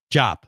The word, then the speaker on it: Diop: How do you pronounce it? Diop.